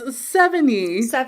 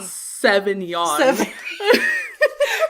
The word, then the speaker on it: Sevigny: Oh, so it's Sevigny, not Sauvignon.